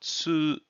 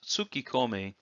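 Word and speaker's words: 突っ込み: And as you see here, we use the little tsu character to double the consonant that's on the K here. So tsukomi, tsukomi is how this is pronounced. So if you say it as tsukikomi, it's not incorrect, but it's not as frequently used that way. So it's better to say tsukomi.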